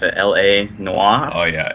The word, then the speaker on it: L.A. Noire: foreign here we go so how do you pronounce this game's name but there's dot so it's a LA Noir oh yeah LA Noire Noir take on the classic uh Noir film